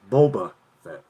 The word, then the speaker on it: Boba Fett: yeah hey that's actually how you say it boba fett good job i'm smart uh dave says ron